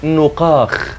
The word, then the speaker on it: نقاخ: يصعب نطقها بشكل سليم مثل كلمه نقاخ ويتم نطقه هذه الكلمه من خلال ضم الحرف الاول وفتح الحرف الثاني ومعناها الماء العذب كلمه